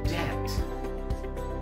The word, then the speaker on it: debt: It's supposed to be debt. Debt. Silent B. Okay, I repeat once again.